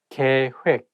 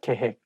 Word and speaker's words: 계획: I think when it has double vowel like OE of 획, it's not heck, it has to be 획. That is the one making this word not easy to pronounce. So make sure that you say 계획, not 계획.